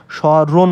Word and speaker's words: স্মরণ: এবং আমরা এই পরেরটা রণ বলি না কিন্তু স রণ বলি তার মানে মূল বানান এটাই কিন্তু আমরা উচ্চারণ করি হচ্ছে স রণের মতো অর্থাৎ স